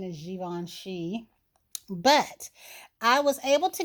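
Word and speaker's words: Givenchy: swear guys i'm so used to calling that da vinci that's probably what i'll say um because i've been calling it that since i was 12. but i do know that the correct pronunciation is given she but i was able to get one of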